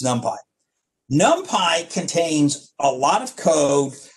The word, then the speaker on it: NumPy: at you so don't do that it's numpy nump Pi contains a lot of code for solving linear